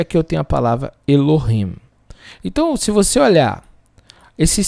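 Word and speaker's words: אֱלֹהִים: Então, E, com esse pontinho aqui, com um L aqui, Elo, com I aqui, Elohim. Elohim. É assim que se pronuncia. Mas é bem interessante vocês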